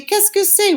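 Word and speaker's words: qu'est-ce que c'est: a box and it says secret you say keskusay what is this what's going on and answer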